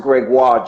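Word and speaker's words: Grégoire: those who don't know my name is Greg it's pronounced Gregoire do you know parents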